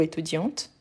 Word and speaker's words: étudiant: je suis étudiant ou étudiante n'oubliez pas que quand on utilise le masculin normalement on ne prononce pas la consonne mais quand on utilise